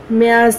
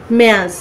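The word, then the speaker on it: März: যে আমরা মার্চ বলছি এখানে আমরা জার্মান ভাষায় মার্চকে মেয়াজ বলছি মেয়া সে কিন্তু এস উচ্চারণ হচ্ছে আপনারা যদি জার্মান ভাষায় আলফাবেটে যান তাহলে দেখবেন জ্যাটের উচ্চারণ কিন্তু সে তো সেখান থেকে এটা যদি ইংরেজিতে বলেন আমি যেমন প্রথম প্রথম শিখার সময় বলছিলাম যে মজ পরে দেখতেছি না এটা মজ হবে যেহেতু এটা জটের উচ্চারণ সেট আছে সেট সে কষেত্রে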